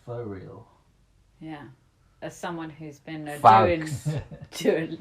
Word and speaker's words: Faux Real: so the next one is called rentree by for real spelled f a u x for real yeah as someone who's